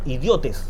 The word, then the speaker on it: idiotes: No es idiotez, es idiotes. Idiotes. Con acento en la E. En la E. Idiotes.